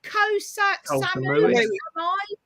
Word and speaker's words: Koh Samui: Is it Koh Samui? Samui? Yeah. Yes. Oh, there you go, Paul. That sounds better, doesn't it?